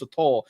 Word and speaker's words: sotol: By the way, I was saying it wrong. It's Sotol. I have a friend that